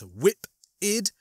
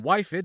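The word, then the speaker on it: Whiphid: A hello to Caden Power, who wanted to help me out with a couple of pronunciations and said, yeah, it's pronounced whip-id rather than wife-id, as I had erroneously been told before.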